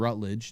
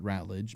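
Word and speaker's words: Ratledge: One, they call him Rutled, not Rattlage. Maybe I'm pronouncing it wrong.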